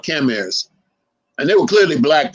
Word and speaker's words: Khmer: Am I pronouncing it right? It's Khmer. Khmer.